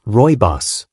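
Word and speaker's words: Rooibos: Our final herbal treasure is Royos, pronounced Royos, which comes from the Africans words meaning red bush.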